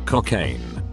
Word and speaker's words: Cocaine: Cocaine. Yes, pronounced like the drug.